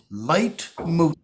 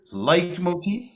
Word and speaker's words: leitmotif: What that is called is a musical leitmotif. Can you say that word? Leitmotif? Leitmotif. It's spelled L-E-I-T-M-O-T-I-F.